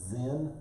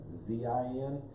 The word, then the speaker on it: Sin: is okay so um actually it's it's pronounced zen zein if you look on the bible it's really not the wilderness of sin although that's what a